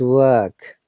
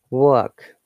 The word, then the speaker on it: work: be work and because in british accent letter r is silent because of non-rhotic attitude of the letter r we use a vowel sound instead of r so it is work okay long sound work